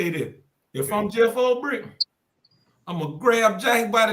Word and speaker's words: Ulbrich: Ulbrich.